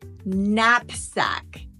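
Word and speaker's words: knapsack: no sound at all the K is silent when it comes before an end so when the K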